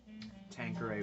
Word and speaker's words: Tanqueray: Tanqueray, by the way, that's the way to pronounce it. All you Tanqueray people out there.